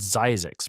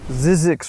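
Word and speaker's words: Zzyzx: of the alphabet California has a town called Zyzix, pronounced Zyzex. If you've driven from Southern California to Las Vegas or from Las Vegas to Southern California, at some point you passed Zyzix Road, spelled Z-Z-Y-Z-X, which is an extremely odd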